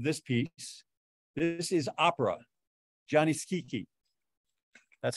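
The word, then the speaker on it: Gianni Schicchi: the score of this piece this is Opera Johnny Kiki that's how you pronounce it it's not Johnny chichi it's Johnny Johnny a one-act comic Opera and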